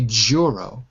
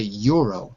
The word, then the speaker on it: Euro: Okay, so it would be wrong to say Juro. It would be wrong to say Jello. But it would be right to say Euro.